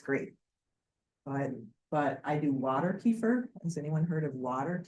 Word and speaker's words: kefir: Has anyone tried, I say kefir, but that's not really how you're supposed to pronounce it. I think it's kefir is the true pronunciation, but kefir, I've tried to make dairy kefir.